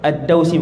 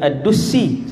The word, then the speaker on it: Ad-Dausi: Sahabat ni nama dia Tufail ibn Amr Ad-Dausi. Hak tadi yang saya lupa saat ni, Tufail bin Amr Ad-Dausi, bukan Ad-Dusi.